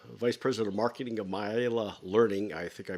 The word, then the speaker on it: MaiaLearning: Welcome, Phil Roybal, the Vice President of Marketing of MaiaLearning. I think I mispronounced that. MaiaLearning, yeah.